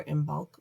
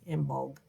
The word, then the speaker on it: Imbolc: is IM vol see sometimes the c is a g some spellings we'll put it with a g in bulk sometimes it's kind of